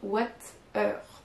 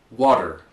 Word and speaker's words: water: Il y a beaucoup de Français qui ont envie de prononcer ça comme water, en mélangeant français et anglais. Mais on ne prononcera pas ce mot-là de cette façon-là. En anglais américain, en tout cas. We'd say water. Water. Donc vous n'entendez plus le T. The T becomes a D.